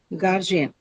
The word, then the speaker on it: guardian: Um u a r gar, right? The first syllable.